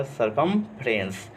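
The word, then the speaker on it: circumference: अब देखिएगा यहाँ पर नीचे थोड़ा देखिएगा, यहाँ पर सी के बाद आई आया, तो सी को क्या पढ़ेंगे, स ही पढ़ेंगे। सरकमफ्रेंस, इस वर्ड को पूरा करेंगे, प्रोनाउंसिएशन तो होगा सरकमफ्रेंस।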